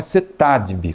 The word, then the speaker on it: CETADEB: O nome da instituição é CETADB, como nós falamos, mas veja que se escreve CETADEB, que é o Centro Educacional Teológico das Assembleias de Deus do Brasil, CETADB.